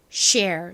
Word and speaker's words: share: 바로 쉬 소리가 납니다. 쉬. 거기에다가 오늘의 덩어리 소리 ARE가 왔네요. ARE는 air 소리가 나잖아요. 더해보면 쉬, air, share, share, share, share, share 이라는 발음이 됩니다. 한국식으로는 보통 share이라고 안 하고 share 요렇게 많이 쓰는데요.